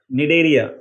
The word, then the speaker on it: Cnidaria: इसका फाइलम है सिलेंट्रेटा, जिसे हम निडेरिया, CNIDARIA, निडेरिया में सी क्या कर रहा है, सी साइलेंट है, तो CNIDARIA निडेरियंस, जो एक एग्जाम्पल है हाइड्रा जिसमें, उसके अंदर ये चीज होती है बडिंग।